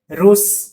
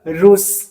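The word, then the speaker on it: russe: consider होगा ठीक है रूस डबल मतलब दो वोवेल के बीच में डबल ए से स का साउंड देगा रूस ठीक है आर अफ्रीकन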